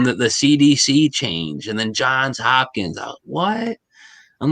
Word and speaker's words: Johns Hopkins: I always thought it was John Hopkins, but I hear everybody pronouncing it like when I hear people in, say, a documentary or something, they say Johns Hopkins.